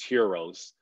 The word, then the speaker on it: gyros: call gyros over there the real the correct pronunciation is heroes but of course we americans love to switch up everything we call it gyros but yeah man loved